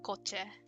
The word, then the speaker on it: kotse: For car in Tagalog, it is called coche, but it's spelled like this, but it sounds the same. So coche.